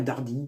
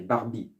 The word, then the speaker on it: Barbie: Il y aura toujours la Dardy. Oh, oh, Barbie. Ouais, il y a Dardy. Non, Barbie. Dardy. Dardy. Non, c'est Barbie. Prononce mieux.